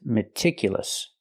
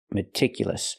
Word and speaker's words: meticulous: not meticulous it's meticulous the second syllable is pronounced I I meticulous use the short I sound like this is remember it's more open metic not meticulous I cannot use a long e like green beans I need a short I meticulous again it's important